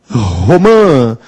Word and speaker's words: romã: que fruta é essa romã Qual é a sílaba tônica umã deveria ter um assento Então porque é uma oxítona terminada em a mas também deve ter